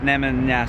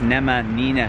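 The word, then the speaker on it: Nemanjina: was saying it wrong it's not nemanja street it's nema nina street so apologies for getting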